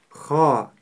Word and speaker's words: خ: звучит Ха ха ха буква ха твёрдая и у неё есть характерный хрип х Ха х Ха не следует её произносить мягко х или х Нет мы её произносим твёрдо ха также характерная ошибка при произнесении твёрдой буквы ха это губы трубочкой Когда при произнесение которой получается звук о хохо Это неправильно мы